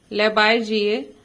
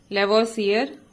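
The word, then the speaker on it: Lavoisier: लेवोइसियर। इसमें दिया हुआ है लेबाइजिए, लेकिन इंग्लिश में इसका प्रोनाउंसिएशन जो है वो लेवोइसियर होता है।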